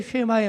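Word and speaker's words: שמע: 세마의 말씀이에요 자 왜 쉐마의 말씀이라고 하냐하면 오늘 읽은 신명기 6장 4절이 이렇게 시작합니다 뭘로 시작해요 이스라엘아 들으라 요거를 히브리어로 쉐마 이스라엘 렇게 발음을 합니다 쉐마가정예배 그래서이 말씀을 쉐마의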